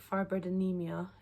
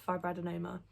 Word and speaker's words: fibroadenoma: been saying it wrong i think i was saying it firebird anemia it's not it's fibroadenoma um not that it